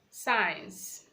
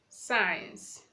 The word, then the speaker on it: science: Letter C is silent when it comes before EIY or after letter S. For example, we have the word scissors, scissors, science, science, scent, scent.